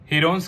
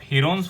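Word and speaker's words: Heron: और इसके एरिया को हम प्रूव भी कर चुके हैं हीरोन्स फॉर्मूला की हेल्प से। हीरोन्स की एक्चुअल प्रोनाउंसिएशन है हिरन्स फॉर्मूला।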